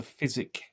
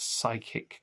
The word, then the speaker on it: physic: They are the physic gardens, not the psychic gardens which are not the